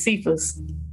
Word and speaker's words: Sephus: It's spelled like Sephus, but it's Sephus.